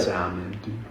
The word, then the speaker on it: salmon: Yes, there's an L in there because it's silent, dude.